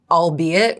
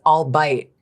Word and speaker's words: albeit: I thought that albeit was all bite for so many years because I would see it written down and I was like I'll bite everybody.